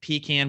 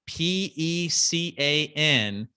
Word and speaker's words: pecan: wife makes an amazing pecan pie. And for those of you that don't know what word that is that I just used, Pecan, if you married a Southern woman, is pronounced pecan, not pecan.